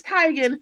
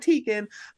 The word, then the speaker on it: Teigen: you only tell us it's tiger not teakin um JWoww people from